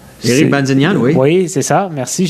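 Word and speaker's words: Erik Bazinyan: Là, je vais avoir besoin de l'aide d'Olivier pour la prononciation, là, mais Erin Banzignan... Éric Banzignan, oui.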